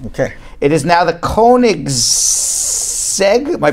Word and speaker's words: Koenigsegg: in the world okay it is now the Koenigsegg am i pronouncing it right mm-hmm are you gonna go